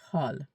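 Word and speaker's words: حال: H A W L. It's the best way I can uh write it out for you guys. You can pronounce it. Hal.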